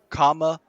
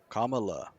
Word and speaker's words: Kamala: listen listen kamala harris wait wait you said it wrong no no comma oh yeah that was right kamala harris to host empowering